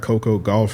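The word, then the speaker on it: Coco Gauff: Next one, I got Coco Golf.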